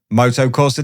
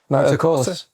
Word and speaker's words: Motocorsa: Ladies and gentlemen, Motocross Dicatis Ryan Vickers. Enjoy. You watch your name. Listen. No. Spoke your team name wrong. Motocourse. Motocross. That's an A.